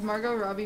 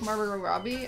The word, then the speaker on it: Margot Robbie: need some farm is margot robbie your spiritual animal if i could look like margaret robbie i would sell my firstborn i think you added an extra syllable to her name am i gonna go